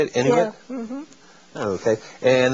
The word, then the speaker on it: Inuit: Inuit?